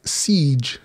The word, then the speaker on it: Siege: oh by the way it's siege not seeg i'm like oh that does make sense it just spelled the same siege so there you go